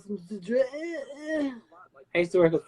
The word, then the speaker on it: Cidre: Cidery? Cidre. Say it with a French voice. Oh, would you like some cidre?